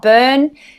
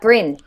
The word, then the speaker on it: Bryn: His name is Bryn, not Burn, and not Bryn, but Bryn.